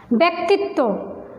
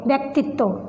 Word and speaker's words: ব্যক্তিত্ব: এই বটা যে অক্ষরের সাথে সংযুক্ত হবে সেইটার উচ্চারণটা দ্বিত্ব হবে, অর্থাৎ ডাবল হবে, সেজন্য আমরা বলছি বিদ্বেষ। ব্যক্তিত্ব, বয় জফলা ক তয় সংযুক্ত রস্ব ইকার, তয়ের নিচে ব, আবারও সেই ব, ব্যক্তিত্ব, তয়ের উচ্চারণ ডাবল হয়েছে।